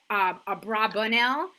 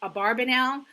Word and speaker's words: Abravanel: So Abravanel sometimes is pronounced Abravanel and sometimes Abarbanel. When you look at the way the Hebrew letters are written, depending on where you put the vowels, it most likely was Abravanel, and she is part